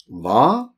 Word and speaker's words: hva: Hva? H-en stum. The H is silent.